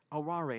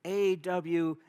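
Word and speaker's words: あわれ: what does that mean and he said arare and I said well how do you spell that he says a-w-a-r-e I said aware he says aurari he says not aware and I said but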